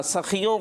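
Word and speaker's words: सख़ियों: ठीक है भाई, इसको सही से प्रोनाउंस करना है जी। जन्नत सखियों का घर है। हाँ, सखियों का, ये खा जो है ना खा की तरफ जा रहा है।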